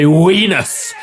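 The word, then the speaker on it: Venus: an adult I am dis respected still by wenus my wife that's how it's pronounced W no wus v w you do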